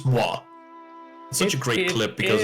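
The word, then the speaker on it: moi: Well, Spider-Man, of course, originally, but why is just the French uh pronunciation of the word meaning me, myself, and I. Mwah. It's not the kiss sound effect like a lot of people have thoughts of at first.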